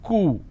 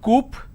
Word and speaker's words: coup: plurality determination derivatives apartment disagreement dislodge c-o-u-p is cool it's not coupe or kaup it's cool isolation quarantine gesture a lot of people pronounce this as gesture it's not gesture just